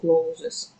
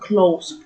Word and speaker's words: clothes: Не забывайте, что пишется одежда clothes, но никогда не говорите clothes. Только clothes, просто clothes, никакого es. Оно не читается, ни в коем случае не произносите его.